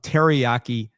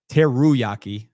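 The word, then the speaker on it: Teruaki: Uh let's go to a a different island right on the other side of the planet uh with Teryaki. Teruyaki. Got to make sure don't mispronounce that one.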